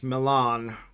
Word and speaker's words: Milan: Milan, like the city in Italy.